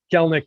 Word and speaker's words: Kelenic: A lot of people have been saying Kelenic or Kelenic. That second E is silent.